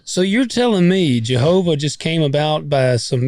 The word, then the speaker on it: Jehovah: course um you know it's spelled with a what looks like a J in Latin but it it's it's supposed to be a y sound but we're English so we started pronouncing it with a J sound so you're telling me